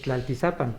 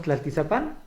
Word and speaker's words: Tlaltizapan: Correctamente, según los decía el maestro Cecilio Robelo y el maestro Peñafiel, es Tlaltizapan, pero todos decimos Tlaltizapán, ¿verdad? Inclusive hasta le ponen el acento en la A, ¿verdad? Para Tlaltizapán.